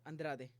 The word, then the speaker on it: Andrade: against Jessica and Raj you see how I pronounce that I said it with the Brazilian accent Andrade did you hear that